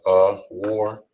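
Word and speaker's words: אור: And this is pronounced as a war, which in Hebrew means light.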